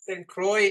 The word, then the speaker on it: Croix: correctly yeah perfectly Robin European in me wants to say squ but Croy in the US Virgin Islands and you know what